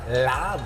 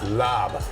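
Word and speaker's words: larb: Don't pronounce the R. Lob. Lob. Yeah, like I'm going to lob you.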